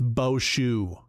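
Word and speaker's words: Bauchou: Just think of I just I want his name to be Bo Show to be like Boat Show. He's the boat show. It's Boou. Bosho.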